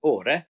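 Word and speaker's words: Åre: We call it Ara, but in Swedish is pronounced Ore.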